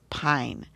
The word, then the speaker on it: pine: And this one is pin, but with the silent e at the end. This I becomes an i. So, it's p i pine. So, which one goes with this picture?